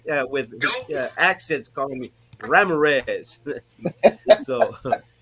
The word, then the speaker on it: Ramirez: the courthouse and i changed the pronunciation of my name from ramirez to ramorez so my name is